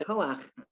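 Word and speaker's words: כוח: is inserted, it's still the first syllable is ko. Under the aleph is ah, and it ends with ch. It's still koach. Okay. It still has that ach sound at the end, and then again, they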